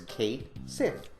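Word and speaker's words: Cait Sith: person's name I said no it's Kate Sith I said especially the Sith part because it's going to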